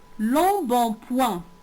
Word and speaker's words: embonpoint: L'embonpoint. L'embonpoint. Écoutez bien. Il contient combien de syllabes? Très bien. Il contient trois syllabes. La première syllabe, c'est long. La deuxième, c'est bon. Et la troisième, c'est point.